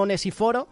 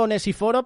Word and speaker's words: Onesíforo: Que yo digo Onesíforo, pero a lo mejor es Onesíforo, ¿sabes? Porque tiene el acento en la I.